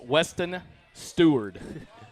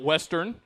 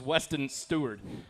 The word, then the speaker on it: Weston Stewart: In case you're wondering, his name is pronounced Weston Stewart. I struggled with that in week one. So, it is not Western. It is not Seward. It is Weston Stewart.